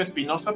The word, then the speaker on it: Spinoza: espinosa que conocemos nosotros espinoza sí no como si es como se escribe espinoza pero si la e